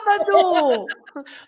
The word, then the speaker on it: sábado: Because you have an accent. Ah! Sábado. I knew that really. Sábado. Yes, Yes. that you are right. Lots of Yes. people say sábado because Yes. they don't put the accent on the A, right?